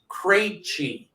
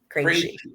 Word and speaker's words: Krejci: asked our viewers and somebody sent in the pronunciation for me. It's Krejci. Krejci.